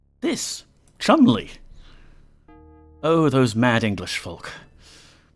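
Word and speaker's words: Cholmondeley: give you a hint the first one is pronounced Chumley this Chumley oh those mad English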